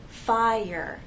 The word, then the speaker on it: fire: These words have 2 syllables: fire, hour. We have 2 vowel sounds, and there is a gliding, but there isn't a joining to make one vowel sound. The vowel sounds remain separate.